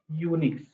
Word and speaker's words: Unix: After that they converted the pronunciation of this is Unix.